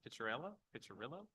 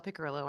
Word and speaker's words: Picillo: online uh uh Pella pillo I apologize if I said that wrong you did not actually that was actually more correct than I've had it pronounced um good afternoon members